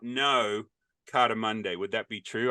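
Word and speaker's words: Cartamundi: people do not know Carter Monday would that be true I don't even know if I'm saying it right it is it's it's cardamundi and that means cards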